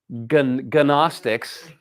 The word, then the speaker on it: Gnostic: Are you wondering why there's a bunch of English words with KN at the front and you don't say the the K? That all comes from Greek. So gnostics are are that's pronounced Gnostic and they were all